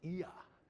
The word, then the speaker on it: aletheia: to fill and then Alia it's Greek so you pronounce every vowel and it's associated with